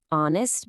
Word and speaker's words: honest: Honest begins with a silent H.